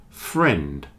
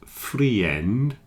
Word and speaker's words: friend: also has one syllable friend ignore the I in this one pretend the I is not there and say friend not freend friend just one syllable